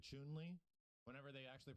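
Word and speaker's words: Chun-Li: guys ever noticed that it's not chun li it's actually chewnley whenever they actually pronounce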